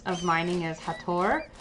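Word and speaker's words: Hathor: s of mining is hator or hather as I think a lot of people tend to say her name um and you know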